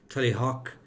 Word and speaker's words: Tullyhogue: But the most famous branches are from Tullyhock, I believe is the correct pronunciation of Tully, what is written as Tullyhogue, and that's where they crowned the O'Neills of Tyrone.